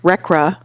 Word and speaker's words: RCRA: Congress adopted the Resource Conservation and Recovery Act, which is pronounced RCRA.